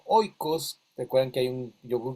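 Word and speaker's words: οἶκος: griega que se llamaba okos. El okos, o como se escribe en griego, oikos, recuerdan que hay un yogur griego, oikos, significa la casa, ¿verdad?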